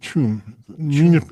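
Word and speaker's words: Cham: So, Chum is located on the northern shore of Lake Zug. Lake Zug. Yes. And really it's pronounced uh Chum the N is a municipality in the Canton of Zug in Switzerland.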